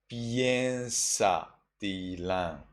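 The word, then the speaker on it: pañcasīlaṃ: Panchasilang. In Burmese we read Piensa tilang. Piensa tilang. Well, that's not pancha. It is piensa.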